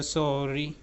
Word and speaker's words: sorry: अगर हम American action की बात करें तो वहां पे सॉरी जो है उसका ओ जो है वो डबल ए में जो है वो कन्वर्ट हो रहा है। किस तरह S double A R double E सा री सा री सॉरी नहीं हम यहां पे अमेरिकन एक्शन जो है प्रोनाउंसिएशन में हम सो नहीं कह रहे हम सा कह रहे हैं